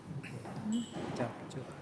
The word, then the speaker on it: CapCut: Capcut. Bacanya CapCut.